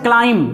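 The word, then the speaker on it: climb: नहीं पढ़ते हैं ये एम के बाद बी साइलेंट होता है इसको हम पढ़ते हैं बॉम ठीक ऐसे होता है क्लाइम सी एल आई एम बी इसको हम पढ़ते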